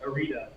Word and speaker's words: Arietta: Pronounced Arita, like Margarita.